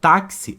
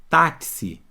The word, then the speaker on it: táxi: X tem dois sons na palavra táxi o mesmo fenômeno ó táxi OLX aqui ó com som de cs táxi que se que